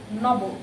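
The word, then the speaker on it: নব: We pronounce it like Nobo.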